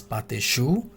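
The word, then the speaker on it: pâte à choux: The pronunciation of this one इज पाते शू।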